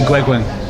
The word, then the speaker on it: Gueguen: I ignored the advice to ask the Torquay reporter who said his name was Guigan, because, to be fair, the bloke's from Devon, not France. Yeah. As it turns out, when I then checked afterwards, my pronunciation was right on the guy, but he didn't have to come on. So it's Olivier Gueguen.